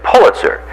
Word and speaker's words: Pulitzer: such thing as a it's Pulitzer the Pulitzer Prize you don't have to